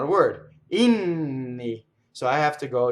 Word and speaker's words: inni: So now we have the word Inni, which is the plural word for hymns in Italian, and it has a double N. Inni, no, it's not a word. Inni.